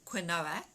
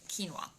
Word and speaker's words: quinoa: that you eat regularly you might know it as canola but it's actually pronounced quinoa so filling up on